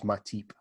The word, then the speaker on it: Matip: That sounds like Matip. Not Matip, right? Got this. Yeah. Come on. Matip. So our friend Jonathan Nagar, who I hope is watching this, is from Cameroon, and his pronunciation is Matip.